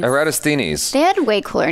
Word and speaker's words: Eratosthenes: In the 3rd century BC, Eratosthenes measured the difference... That's how you say his name? I've been saying Eratosthenes. Eratosthenes. Eratosthenes.